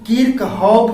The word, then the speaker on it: Kirchhoff: कहीं कहीं किरचॉफ का नाम किरखोफ या कहीं किर्कहॉफ मिलता है। नाम में यह डिफरेंस अंग्रेजी नाम के चलते होता है। हम इस लेक्चर में किरचॉफ नाम ही प्रोनाउंसिएट करेंगे।